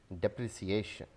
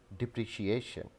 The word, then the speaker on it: depreciation: quite often mispronounced as depreciation so the correct pronunciation of this word is depreciation depreciation depreciation this word